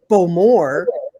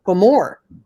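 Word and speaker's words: Bowmore: hear everybody saying uh beaumore when in fact it's for more the emphasis is on the more the second second syllable um yeah and and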